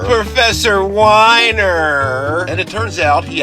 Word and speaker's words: Wiener: And besides, his name is probably pronounced Wiener or Weiner. Professor Weiner!